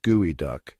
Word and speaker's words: geoduck: The geoduck, pronounced gooey duck, is one of the world's largest burrowing clams native to the Pacific Northwest.